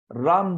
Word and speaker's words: राम: होती है राम रामा संस्कृत क्या होता है रामा राम नहीं रामा आप देख सकते हो म जो है उसको थोड़ा सा थोड़ा सा लंबा होता है वो मतलब रसवा ही